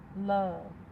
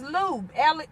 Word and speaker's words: Lub: The first part of my handle is pronounced like love. Oh, is it? It says, I thought it was lube. L-U-B. Lub, like that. Lub. It's no E.